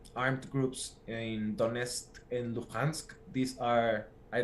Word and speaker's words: Donetsk: parts of Ukraine, some like armed groups in Donetsk and Luhansk. These are, I don't know if I'm saying it correctly. Donetsk.